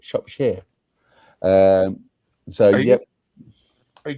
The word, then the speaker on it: Shropshire: That's how you pronounce it, Shropshire.